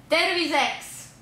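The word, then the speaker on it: terviseks: TerviSEX.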